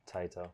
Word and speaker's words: Taito: Oh wait. Taito. Yeah, with the T. Taito.